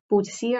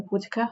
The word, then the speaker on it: Boudica: So this third, possibly fourth time in Britain, Boadicea or Boudica, however you want to pronounce it, is at her height.